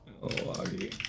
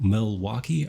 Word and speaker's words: Milwaukee: Yeah, go look up Milwaukee Art Museum. And I pronounce it the Wisconsin way, but it is Milwaukee Art Museum, not Milwaukee.